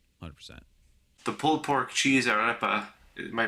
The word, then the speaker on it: arepa: The pulled pork cheese arepa, am I pronouncing that right? Uh it good to me. Yeah. Yeah, I know. You got to roll roll the r's. I can't roll my r's.